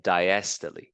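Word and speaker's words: diastole: that's one cardiac cycle when the muscle contracts we call that syy when it relaxes we call that Diest that's how you pronounce these word okay systo and diesto now you may not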